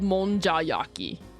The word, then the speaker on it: monjayaki: It's spelled monjayaki.